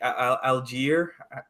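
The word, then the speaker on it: Allgeier: like uh you guys had uh Tyler algae algier is that you say his name perfect yeah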